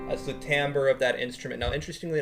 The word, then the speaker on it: timbre: It's spelled T-I-M-B-R-E. It's not timbre. It is timbre.